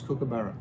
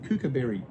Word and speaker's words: Kookaburra: Kookaburra, you want to hear the Americans pronounce Kookaburra. It's hilarious. They say they get kookaberry.